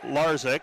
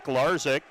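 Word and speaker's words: Lazic: Attacking from the outside and getting the kill is Peter Larzik. Larzik makes it 12-6. Larzik's last name spelled l a z i c but pronounced Larzik.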